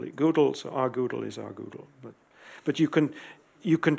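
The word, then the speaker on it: rgdal: When I talk about rgoodle, it's because Frank Womerdam said that he pronounces GDAL Goodle because he wanted it at one stage to be object-oriented, but it never got there.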